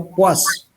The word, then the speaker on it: poise: Se escribe poise y se pronuncia poise.